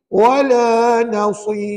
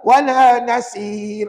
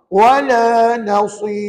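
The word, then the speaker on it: ولا نصير: Maka kata ulama, ra itu kamu kena baca nipis. Sebab huruf ya bersifat nipis. Jadi puan-puan bacanya begini. Wala nasir. Tapi hati-hati. Jangan pula sad itu nipis pula. Wala nasir. Salah puan-puan. Sad itu tebal. Yang nipisnya ra.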